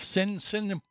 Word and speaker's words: Cinciripino: Jeff Cinciripino.